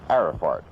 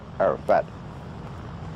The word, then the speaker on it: Arafat: of the Arab leader Yasser Arafart. Or should that be Yaser Arafat? Try pronounced that way.